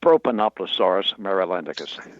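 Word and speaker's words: Propanoplosaurus marylandicus: And the pronunciation of your dinosaur, did I get that even close? Not quite. It's Propanoploaurus marylandicus.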